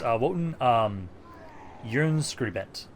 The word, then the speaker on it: Wotan Jernskribbent: It's Wotan Jernskribbent. It's supposed to be more of like a Y sound for the J.